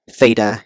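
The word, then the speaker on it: θ: by the order triple of the form row Theta and Fe so here this is pronounced as row this is Theta and this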